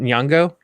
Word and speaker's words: Nyong'o: Is it Nyong'o?